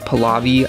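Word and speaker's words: Pahlavi: put Muhammad Reza pav palavi palavi I think is how you say it a sha Reza Reza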